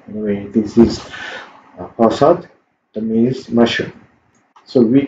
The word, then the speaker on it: 버섯: I think this should be T, not S. Anyway, this is 버섯, that means mushroom.